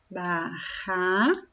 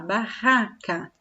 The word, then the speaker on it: barraca: Se eu escrevesse ba, olha lá, ba, ra, barraca. Olhem lá, barraca. Tem uma vogal, outra vogal. Entre as vogais eu escrevo dois R's, porque o som barraca é forte.